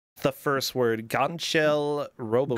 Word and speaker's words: Gangcheol: Gangcheol Robocop. Gangcheol Robocop, yeah.